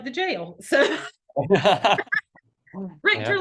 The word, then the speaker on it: Richter: Richter, like the Richter scale. Richter. Yep. Pardon? Like the Pardon? Richter scale. I was Like just the saying. Richter scale. I almost said Riker, and I'm like, that's like the jail.